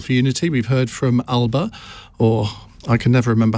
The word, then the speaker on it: Alba: heard from all for unity we've heard from alba or i can never remember how alex someone told me i had to pronounce it alipa that's the one um and we are going